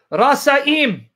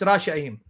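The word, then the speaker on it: רשעים: Oh, I'm sorry. It's Rasha'im. Sorry about that, Rasha. Sometimes I misread that little half circle mark on top of S. That means you have to pronounce it sh.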